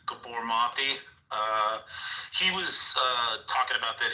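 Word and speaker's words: Gabor Maté: So like if you listen to like, I think his name is pronounced like Gabor Mate.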